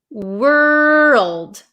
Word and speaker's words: world: we have the word world world world so make sure you pronounce that L word world world world